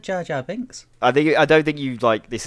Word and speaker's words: Jar Jar Binks: Yeah, I think you said Jar Bar Jinx. Bar Jar Jinx. I didn't say I said Jar Jar Binks.